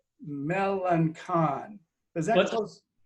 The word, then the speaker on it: Melancon: And I always pronounce it right, Melancon. Is that close? It's close. It's a soft C. It's Melancon.